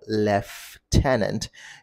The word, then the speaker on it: lieutenant: it's Lieutenant left tenants like you left a tenant tenant Lieutenant so that's